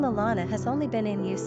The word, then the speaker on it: Alana: Pronunciation, Alana.